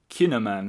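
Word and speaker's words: kouign-amann: g n Dash a m a n n kinaman so it's obviously written in the local dialect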